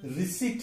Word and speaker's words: receipt: अगला शब्द है RECEIPT। इसका सही उच्चारण रिसिप्ट है, लेकिन हम रिसिप्ट कहते हैं। अगर हम किसी से पैसे देकर कोई पावती लेते हैं तो उसे क्या कहते हैं? रिसिप्ट। लेकिन हम गलती से उच्चारण इसका रिसिप्ट करते हैं, जहां की ये प साउंड साइलेंट है।